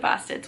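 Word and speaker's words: Bastids: And I'm sorry that I'm kind of butchering the name of that short story because I do not have a Maine accent, and it is spelled B-A-S-T-I-D-S.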